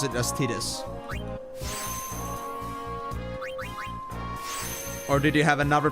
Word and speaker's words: Tidus: I used to pronounce it as Tidus, but I was told from the beginning to pronounce it as Tidus.